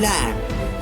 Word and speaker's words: lamb: We have to mute the word, mute the alphabet, mute the letter B silent. So we can pronounce like this: come, bomb, thumb, climb, tomb, crumb and lamb. So here B is silent.